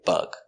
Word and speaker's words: bug: You can say Volkswagen Beetle or you can say Volkswagen Bug. It's the same car. Pronunciation of bug. B, b, b. B. G, bug, bug. Closed, relaxed sound. Bug.